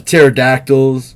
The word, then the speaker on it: pterodactyl: these sides yeah the pterodactyls right you know why you can't hear uh you know why you can't hear those birds um in the bathroom because the p is silent should